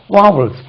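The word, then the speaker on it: vowel: வாவல் சவுண்டுக்கு வாவல் வாவல் நம்ம வவ்வல் சொல்றோம் இல்லையா wow there or five வாவல்ஸ் in English அது வவ்வல்ஸ் கிடையாது வாவல்ஸ் இப்போ இதை வந்து உயிர்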